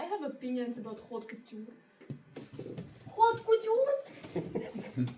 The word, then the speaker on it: haute couture: Haute couture? Haute couture. H is silent.